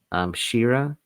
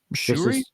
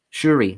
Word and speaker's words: Shuri: And I think Shira, is that how you pronounce her name in the film? Shuri? Shuri, thank you.